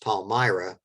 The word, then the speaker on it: Palmyra: town not too far from harrisburg right uh pronounced palmyra but that becomes the most important caravan city